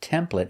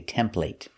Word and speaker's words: template: Now this word is pronounced template in America, but in England they say template.